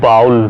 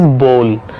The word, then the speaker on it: bowl: A lot of people call it bowl, which is not correct pronunciation. Correct pronunciation is bowl. Bowl. It is ball and it is bowl. Ball, bowl.